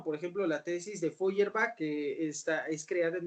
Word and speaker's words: Feuerbach: obras bueno primero ya dije tesis de feuerbach feuerbach se escribe efe rp hace h hierba así